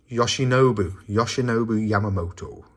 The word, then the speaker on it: Yoshinobu Yamamoto: spotless card come in than this lovely rookie Yoshibu Yamamoto on the anime. I'm gonna look at his name, make sure I'm pronouncing it right. Yoshinobu Yamamoto.